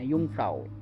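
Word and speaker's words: Jungfrau: জি ইউ এন জি এরকম করে কিন্তু যে উচ্চারণটা হয় না ইউংফ্রাও বলে ওরা যাই হোক তো এটা হচ্ছে ইন্টারলেকেন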